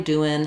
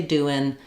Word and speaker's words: doing: We don't say doing. We say doing.